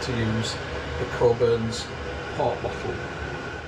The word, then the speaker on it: Cockburn's: So that tells me next time not to use the Coburn's port bottle, or Cockburn's port if you want to say it like it's spelt.